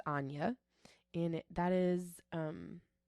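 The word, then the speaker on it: Áine: I N E and it is Irish it is pronounced Anya and it that is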